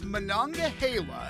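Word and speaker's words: Monongahela: I'd say about that one of course it's mananga Hala a Native American word now let's try a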